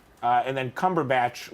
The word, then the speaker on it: Cumberbatch: right uh and then Cumberbatch like a like a Harry Potter plant like a plant from